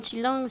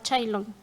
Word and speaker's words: Chilón: y, por ejemplo, a los que nos apellidamos Chilón ya no nos llamaban Chilón, sino más bien ya nos llaman ahora Chailón.